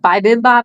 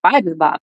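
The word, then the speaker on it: bibimbap: People told me I was always saying it wrong and they would say, "Oh, it's bibbop."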